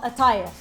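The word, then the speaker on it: qatayef: this is huge it is for at at it's spelled kif but it's called aif and what it is it's it's a middle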